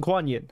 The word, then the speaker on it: Guanyin: uh GUI Young or uh that's how you pronounce it guanyin I apologize they should get Michelle yeah to